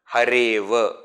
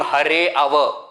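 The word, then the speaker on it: हरेव: Hareva. I am not saying Hareva, I am saying Hareva. Hareva. That A is, I am not saying Hare Ava. A is not pronounced completely, because that would be wrong.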